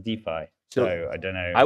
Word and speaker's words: DeFi: it every time now told should be pronounced defy so I don't know I was going to start saying Duffy I kind of think